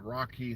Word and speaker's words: Rakhee: Her last name is spelled Thakrar, Rocky Thakrar. I believe the first name is Rakhee, something like that.